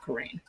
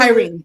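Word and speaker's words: Cairhien: same exact place as I said that name wrong, not Karain. What is the name of? By the end of Kyrene, Kyrene.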